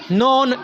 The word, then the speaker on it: known: शुरू हो रहा है, नोन, NOWN, नोन, NOWN, मतलब K के पढ़ तो नहीं रहे हम, लेकिन लिखना है, ये गलती से K नहीं लिखा हुआ। इसके स्पेलिंग में K लिखा जाएगा, लेकिन पढ़ने में K की साउंड नहीं आएगी। K की साउंड क्या है इसमें, K की साउंड को तो हम क्या कहेंगे, K जो लेटर है वो इसमें क्या है, साइलेंट है। नोन में K लेटर साइलेंट है, नोन के अंदर